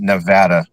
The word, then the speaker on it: Nevada: And it's And it's pronounced Nevada.